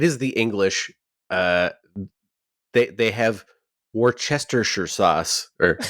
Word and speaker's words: Worcestershire: Yeah. Like, actually, it should be Worcestershire. Worcestershire. Yeah. Because it comes from the Shire of Worcester.